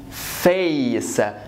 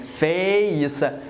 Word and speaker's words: face: late the same here this is fa not face like I'm going like this so flat no I want you to go like this and like this face face face like you're going to pronounce the whole letter so again let's recap